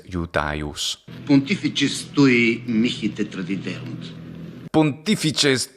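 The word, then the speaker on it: Iudaeus: Numquid ego Iudeusum. So of course he says Iudeus, the classical pronunciation is Iudaius.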